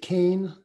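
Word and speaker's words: Kean: the woman is um Leslie Kaine uh she pronounces it can but it's actually spelled Keen ke a an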